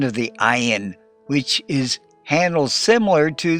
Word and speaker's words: Ayin: The Ayin is silent, so you only have the ah sound of the vowel, ah.